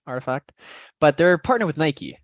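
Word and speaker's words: RTFKT: So that's how you say it, Artifact.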